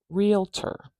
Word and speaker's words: realtor: you clap realtor now we have three syllables here there's the symbol for syllable we have two syllables here so relat realat now because we have the complication of a third syllable here let's see does it change where the stress is in the word in this option realtor realter we have the stress at the beginning I'll say this a few times realtor